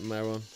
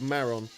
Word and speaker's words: Maron: Yeah, I'd definitely go for the catfish at Maroon. And I know I do that sometimes. I said maroon there, and I know it's called Maron, but the way I pronounce some stuff, sometimes I just don't pronounce stuff properly.